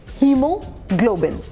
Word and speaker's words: hemoglobin: And that's how यू से इट, hemoglobin. Hemoglobin. Now this is a tricky word.